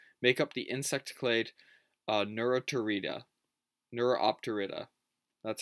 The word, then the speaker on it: Neuropterida: Snakeflies, along with Neuropterans and Megaloptera, which is the alderfly order, make up the insect clade Neuropterida, that's how you pronounce it, excuse me.